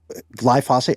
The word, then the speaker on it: glyphosate: Because he he made a pretty solid case that glyphosate or glyphosate, how do you say it?